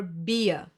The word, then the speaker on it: Bier: I-E will be pronounced like a long, slow E, like for example in cheese. Another German diphthong. A few more examples for this sound would be lieben, to love, or Bier, beer.